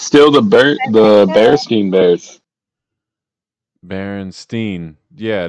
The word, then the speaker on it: Berenstain: It was always Steen, not Stain. Oh, no, now they're Bern. B-E-R-N. Berenstain Bears.